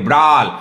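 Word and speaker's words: brawl: तो ये आज का तीसरा वर्ड रहा ब्राल, इसको उच्चारण पे ध्यान दीजिए, इसको हम बोलेंगे ब्राल।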